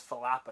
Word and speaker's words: falafel: the problem because it's Falafel I converted oh like the pepper you're falafina oh yeah you're not supposed to pronounce the F it's yeah it's a pH I think it is